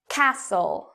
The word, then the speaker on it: castle: e n s n castle castle fasten fasten okay last one moist moisten so even though you see t n t l e t n you do not pronounce the T in these words but what about often